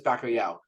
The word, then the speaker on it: bacalhau: and it turns out the word for COD in Portuguese is bakoo uh so that's why